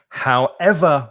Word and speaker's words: however: And when we do that, we don't stress the first syllable, as I said at the beginning. We stress the second syllable. So instead of saying, however, you could say, however will you manage to live on such a small salary?